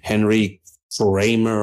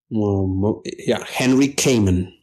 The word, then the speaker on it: Henry Kamen: Inquisition subject, a historian by the name of Henry Kramer, I think that's how his name is pronounced. Henry Kamen.